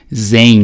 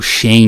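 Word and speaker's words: Xen: E sem ser as instâncias mais modernas, né, o hypervisor que a AWS utiliza é esse chamado de Zen, né, ou Shen, né, depende aí do que você prefere pronunciar. O que é esse Shen, né?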